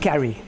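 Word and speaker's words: kari: apparently there's a it's a tamil word called carrie it's almost phonetically that's why we call it cash and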